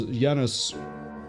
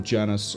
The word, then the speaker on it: Janus: Whereas Janus, or Janus, I'm going to pronounce it both ways, is instead versatility.